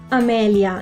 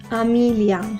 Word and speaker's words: Amelia: Same for Amelia, it's pronounced Amelia, not Amelia.